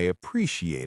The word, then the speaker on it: appreciate: A pre she ate. Appreciate. Listen to the stress. The stress is on the second part.